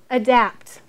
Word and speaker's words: adapt: Here, adapt. What are we going to say? Adapt. Because the A is being lazy.